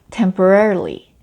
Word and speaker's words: temporarily: R 발음도 많고 R하고 L 발음이 같이 붙어 있어서 힘든데요. temporarily.